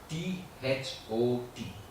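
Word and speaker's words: THOT: So, this thing we are going to do is the word T-H-O-T. But it's that last T is silent. It's like Tho. Okay, when you do the Tho, the tongue, you should notice the tongue.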